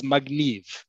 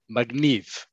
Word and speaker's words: magniv: The word is magniv. Remember that in modern Hebrew, most words are stressed on the last syllable, not the second to last syllable.